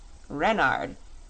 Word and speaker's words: Renard: is king renard iv renard with the accent on the ren what's wren asked button